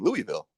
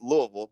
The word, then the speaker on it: Louisville: is in Kentucky, and I was saying Louisville. Yeah. And I was, you know, that's blasphemous. You cannot say it like that. It is Louisville, but if you're actually from Kentucky, it's it's even slurred and more. It's like you got peanut butter and marbles in your mouth.